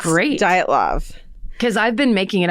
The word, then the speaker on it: Dyatlov: And did you look up the pronunciation? Yes. It's great. Dyatlov. Because I've been making it up, the Me too. pronunciation in my head every time I look at it. Until today, it was the Dyatlov Pass in my mind.